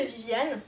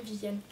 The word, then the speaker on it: Vivian: La famille de Viviane, mais ça s'écrit Vivian, on va l'appeler Viviane. La famille de Viviane, elle